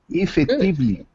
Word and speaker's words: effectively: The first sound is I effective. Good. It's difficult. Good. Effectively. That's perfect. Effectively. Effectively. Good. Good. Effectively. That's it. It's not actually E.